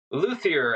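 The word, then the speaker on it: luthier: this as well professionally you are a a luier is that how am I saying that right luier absolutely you know people will ask me you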